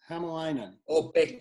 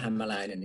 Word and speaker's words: Hämäläinen: heard everything so uh it's himalayan pekka pekka hamelina actually in finnish it would be pekka himalayan but uh pekka himalayan is is absolutely fine